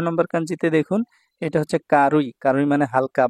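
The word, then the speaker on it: 軽い: 8 তারপর 18 নাম্বার কাঞ্চিতে দেখুন এটা হচ্ছে কারুই কারুই মানে হালকা বা পাতলা এই যে কারুই জাপানিজ উচ্চারণ আর কেই বা খেই এটা হচ্ছে সাইনিজ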